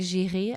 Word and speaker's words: Giry: Meg Giry ou Meg Giry, às vezes as produções podem alterar a forma da pronúncia, como se é britânico, mas as referências são francesas, não é?